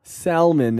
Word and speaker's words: salmon: yeah by the way the L in Salmon is silent I cannot stress this